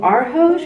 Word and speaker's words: Arhoj: So this is my little ghost lamp from Studio Arhoj. I'm not sure how to pronounce that.